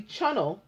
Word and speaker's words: Chunnel: often referred to as the Chunnel like tunnel but spelled with a CH c h u n